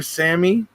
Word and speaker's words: Sami: Dr. Sami, pronounced Sammy, Shabani, who now lives in